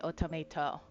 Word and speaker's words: Otomate: It's spelled automate like that, but they say automato.